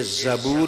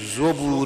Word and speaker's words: زبور: کا نام تھا زبور۔ یہ زبور بھی ہے، زبور بھی ہے، دونوں طرح اس کا تلفظ کیا گیا ہے۔ قرآن مجید کہتا